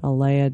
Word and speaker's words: Aleya: And Aleya, let's talk a little bit about how people can reach you and get, get your book.